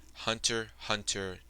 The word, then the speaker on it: Hunter x Hunter: Hunter, Hunter, don't pronounce the X.